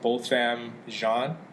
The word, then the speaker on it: Botham Jean: the victim name is how do you pronounce his name both both Ram Shawn his family's from st.